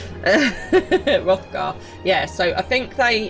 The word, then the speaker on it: Hrothgar: I'm pretty sure the H is silent. Hrothgar.